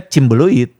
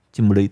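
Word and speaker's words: Cimbeuleuit: Ditulisnya kan gampang. Ci Umbu Leuit. Tapi dibacanya Ciumbu Leuit. Iya emang. Tapi banyak yang enggak enggak bisa sih. Orang Bandungnya sendiri nyebutnya chimbeluid. Cimbeluit.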